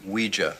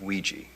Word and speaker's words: Ouija: It's pronounced Ouija, not Ouija. It comes from the French and German words for yes, oui and ja.